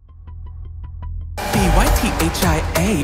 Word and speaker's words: Pythia: P-Y-T-H-I-A, it's pronounced Pythia and I'm here to slay.